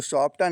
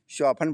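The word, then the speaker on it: soften: अगली मीनिंग है शॉप्ट इसको सॉफ्टन नहीं पढ़ेंगे। इसमें टी साइलेंट रहेगा। शफनन पढ़ेंगे।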